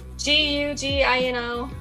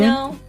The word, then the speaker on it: Gugino: Gugino. How do you say it? It's like Italian. Say it again. Gugino.